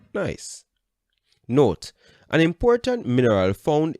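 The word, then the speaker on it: gneiss: changes into quartzite and granite changes into nice pronounced nice note an important mineral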